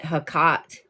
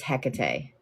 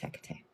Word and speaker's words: Hecate: And I just want you to remember that she's Greek. She is a Greek deity. Um, so it's not Hakkat. Um, it is Hecate.